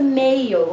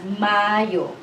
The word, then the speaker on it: Mayo: abril may is mayo you don't read this as a mayo okay we don't have a long a sound no mayo there it's mario june is now some